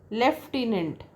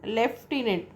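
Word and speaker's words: lieutenant: sound is kernel right uh that's a uh left inent I know so that's a that's again left in it no sound of f but then uh that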